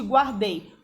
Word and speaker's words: guardei: mangue e u de guardei? Mangue. O u não é pronunciado. Guardei. O u é pronunciado.